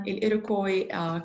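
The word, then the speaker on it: Iroquois: أوكي، القطعة الثانية بتحكي عن الإيروكوي كونفدرسي، الأسهم لا تلفظ، يعني تحالف قبائل، ست قبائل native peoples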